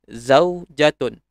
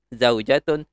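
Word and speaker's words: زوجة: Okay, isteri ataupun wife dalam bahasa Inggeris, kita sebutkan dalam bahasa Arab sebagai zaujatun. Zaujatun. Zaujatun.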